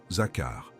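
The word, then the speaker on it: זכר: Prononce ce mot à voix basse. Zakar. 2 syllabes.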